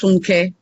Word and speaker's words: Funke: It's pronounced Funky. Hi. It's pronounced Funke. Funky. So, yeah. So my name is Funke.